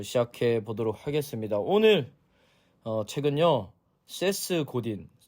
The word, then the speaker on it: 세스 고딘: 보도록 하겠습니다 오늘 책은요 세스 고딘 섹스 고딘이 아니라 세스고디 발음 잘하셔야 돼요 SS 고딘이 쓴 마케팅이다라는